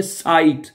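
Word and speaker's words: Zeit: जेड है वो हमें एस की आवाज में प्रोनाउंस नजर आ जाएगा, ठीक है, ओके। जैसे कि एक जुमला बोलते हैं, इशहाबे खाइने साइट, साइट जो होता है वो जेड के साथ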